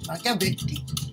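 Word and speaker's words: マキャベッリ: ベッリ、マキャベッリとイタリア語では発音するみたいです。1469 年 5 月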